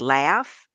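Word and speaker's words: LHFF: finance and family concerns I also say it's pronounced like laugh because if you don't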